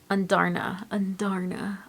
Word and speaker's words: Andarna: to say her name, but it's Taryn and Andarna.